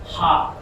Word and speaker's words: ح: হা এই হা উচ্চারণ করার সময় একটা হাওয়া বাইর হবে। এবং সেম হাওয়াটা বাইর হচ্ছে কিনা বোঝার জন্য একটা মুখের কাছে হাত নিলেই আপনারা বুঝতে পারবেন।